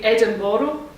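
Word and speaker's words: Edinburgh: as they all know you have to say edinboro because that's how they say it and i said well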